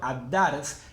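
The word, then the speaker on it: الدرس: Y en el caso anterior, ad-dars, la L no la pronunciaba porque era solar.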